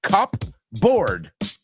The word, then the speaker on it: cupboard: It's cup board, pero no se pronuncia cupboard. It's cupboard. Cupboard. Yeah, es como la P lo comemos.